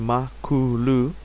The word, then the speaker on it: Makulu: uh development team and um makulu which is pronounced makulu um is the Zulu word for pig Chief